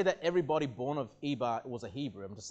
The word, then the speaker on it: Eber: the New Testament where Eber is pronounced Heber. And that's where we get the term the Hebrews from, okay? Not to say that everybody born of Eber was a Hebrew.